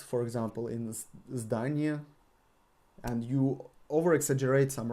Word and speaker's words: здание: Здание. Здание is building. Здание. Здание. With the emphasis on a.